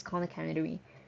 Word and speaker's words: Khan Academy: There's always Khan Academy. Sorry, did I pronounce it correctly? Yes, Khan Academy.